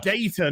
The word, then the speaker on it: Data: Right, his name is Data, not Data. Did you say if you Data? call him Data, he will correct you to his correct pronunciation, which is Data.